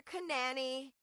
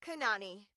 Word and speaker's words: Kanani: It is not in fact pronounced Kalúa or Kanani. It is Kanani.